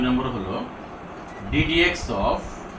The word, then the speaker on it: d/dx: এটা দেখলেই আমরা বুঝতে পারবো এখানে অন্তরীকরণের কথা বলা হয়েছে এবং এটার উচ্চারণটা আমরা লব এবং হর আকারে এখানে দেখতে পাইলেও আমরা এই d/dx না বলে এটাকে আমরা বলবো একেবারে ddx বলবো।